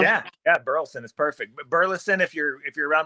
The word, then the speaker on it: Burleson: the last name yeah yeah burlson is perfect Burleson if you're if you're around my dad but burlson if you're you know if you're in a hurry and I I use burlson you know just I'm introducing myself but then